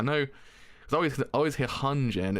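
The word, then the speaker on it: Hange: the actual manga than it is actually how it's spelled? Because I know, because I always hear Hanja and it's actually spelled Hunger.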